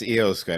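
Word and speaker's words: Iyo Sky: was letting you say the name because I butchered it last time it's EOS guy well she used to be EO shirai and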